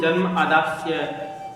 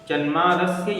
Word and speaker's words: जन्मादस्य: उसको जन्मादस्य को वे लोग जन्म आदास्य अदस्य उसमें गलत उच्चारण कर देते हैं, त्रुटि कर देते हैं। जन्मादस्य यतोन्वयादितरतश्चार्थेष्वभिज्ञैः स्वराट्, इस प्रकार से इसका उच्चारण होता है।